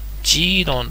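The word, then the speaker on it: 基隆: て、その上にね、ジーロンという、ジーロン。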